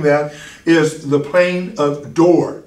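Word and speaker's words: Dor: is the plane of door d-o-r not d-o-o-r but d-o-r door and then below that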